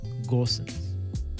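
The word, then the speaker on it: Gosens: ways of saying that there's no umlaut you do say the g it's gorsuch okay well in any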